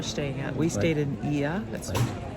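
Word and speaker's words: Oia: We stayed in IA. That's spelled O I A.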